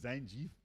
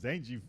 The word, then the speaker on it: Zangief: is a gully dude I just learned that zangie is called Zangief like from Street Fighter